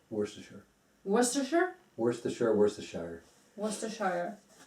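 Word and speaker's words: Worcestershire: most mispronounced word in eng let me jeez worest Shire almost and how is it pronounced correctly wor wor wor sure worshire wor it's it's a it's a city in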